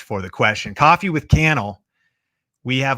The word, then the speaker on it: Cannell: my name is canel rhymes with YouTube channel and I am answering